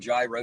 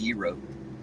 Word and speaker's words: gyro: hillbilly you'll call them gyro shops even though that's not how it's pronounced but that is kind of how it's spelled but it's actually pronounced Euro and that's where I